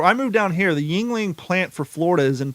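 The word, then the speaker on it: Yuengling: they're letting you know because the way it's spelled is a little weird it is pronounced Yingling yep and d g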